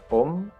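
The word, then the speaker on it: Ω: rumus jadi R = hambatan kawat dalam satuan Om meni membacanya Om ini ruh ini adalah hambatan jenis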